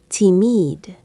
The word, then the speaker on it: timide: It sounds like the English word timid. Say it with me. Timide.